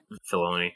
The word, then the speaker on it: Filoni: I was you mentioned Will, Dave Filoni or Fioni, however you pronounce him. Filoni. Yep. And how it was his